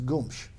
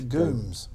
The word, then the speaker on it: Gomez: An interesting story with that is that the Portuguese pronunciation of Gomez is Gomes, and it was anglicised by the time my grandfather came along to Gooms. To Gooms?